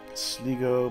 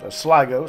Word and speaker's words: Sligo: Sligo, Brandenburg, Ferrara. Sligo, sorry. Should pronounce it correctly.